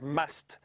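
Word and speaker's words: musth: when they are in a stage known as must which is spelled m s t h and apparently an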